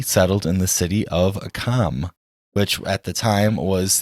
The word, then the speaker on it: Qom: I believe I think it's kind of pronounced like home almost, like it's Qom.